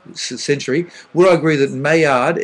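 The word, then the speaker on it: Maillard: what I agree that mayard m a l a r d notice how I didn't uh pronounce the L are the best chemical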